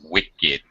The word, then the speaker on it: wicked: there is no verb you have to concern yourself with actually pronouncing two syllables wicked all right we are